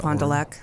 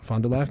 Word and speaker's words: Fond du Lac: I'm sure that I pronounced that Fond du Lac. Fond du Lac, yeah.